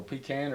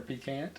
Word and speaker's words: pecan: Oh, pecan or pecant?